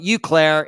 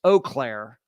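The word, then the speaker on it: Eau Claire: me on the pronunciation it's not you Clair it's oair oair Wisconsin I fully respect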